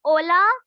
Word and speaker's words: hola: H is silent here.